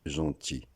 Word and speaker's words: gentil: De la même façon que l'on dit gentil. Comme gentil se termine par L et le L ne se lit pas, de la même